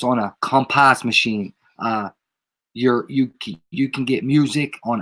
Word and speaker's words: COMPAS: But I almost want to say when they pronounce it, it's compass, like compass. Like when you say it in jail, it's like compass.